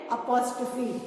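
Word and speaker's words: apostrophe: comma बनाया बट इसको हम कॉमा नहीं बोलते हैं अगर आप कॉमा बोलोगे तो गलत हो जाएगा shape is exactly same that of अ comma but हम इसको क्या बोलते हैं अपोस्ट फी and spelling is ए पी ओ एस टी आर ओ पी एच ई अपोस्ट फी क्या बोलते हैं बेटा इसको साइन ऑफ अपोस्ट फी और ये वर्ड के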